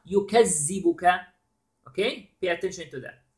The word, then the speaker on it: يُكَذِّبُكَ: فَمَا then يُكَذِّبُكَ. Now notice here the dhal. Dhal has a shadda. Okay, so we have to stress a little bit when we pronounce the dhal, which is يُكَذِّ.